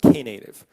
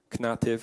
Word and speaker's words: Knative: and by the way it's pronounced key native not native or anything like this I've heard a couple